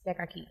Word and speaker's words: Keka Keeks: It's Keka Keeks.